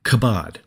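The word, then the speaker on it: כבוד: In the Old Testament, the word for glory is pronounced something like kabod.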